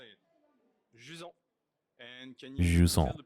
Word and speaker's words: Jusant: Jusant. And can you tell the people what Jusant is? Yeah, Jusant is simply a French word we use to describe the receding tide.